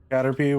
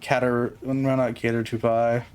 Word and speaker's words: Caterpie: Caterpie, why is it pronounced like that? Because it's probably Japanese in origin, like most of the things pronunciations. Well, I'm always here, always listening. Not cater to pie.